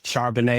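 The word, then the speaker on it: Charbonnet: Y'all are a team that love to run the football with Kenneth Walker and Charbanet. I always pronounce his name wrong.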